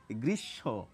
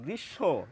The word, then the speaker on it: গ্রীষ্ম: কিন্তু বেশিরভাগ ক্ষেত্রে ম ফলার ম এর উচ্চারণ আমরা করি না।